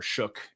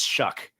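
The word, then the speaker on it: Shough: I think it's a fun test for for Shuck and and uh or Shook and or No, it's Shuck. Shuck. Yeah. Rhymes with duck.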